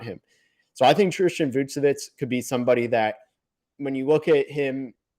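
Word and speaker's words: Vukčević: And his name is Tristan Vouchevich. I've heard multiple pronunciations. I've heard it's actually Vouchevich. Seen Vouchevich, just like Nikola Vouchevich.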